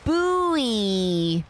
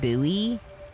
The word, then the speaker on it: buoy: Oh, buie. That's how I say it, buoy. Which doesn't sound as good as saying, "Oh, buoy." Buoy. So, I said it that way. But I usually pronounce it buoy.